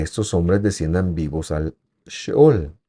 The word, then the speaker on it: Sheol: Algunas traducciones se escriben Sheol, pero la palabra correcta es Sheol.